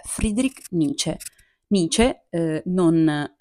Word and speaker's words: Nietzsche: Friedrich Nietzsche Nietzsche non Nietzsche non nietzche come a volte i miei studenti Insomma l'hanno appellato Nietzsche penso vada bene lo stesso ma essendo bavarese credo che la pronuncia sia un po' più dolce quindi Friedrich Nietzsche e così non vi